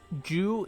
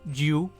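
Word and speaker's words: じゅ: Or like, Ju is G-U, Ju, because there's no J sound, so you would have Ju, like Ju. So it sounds like Jew, but it's Ju.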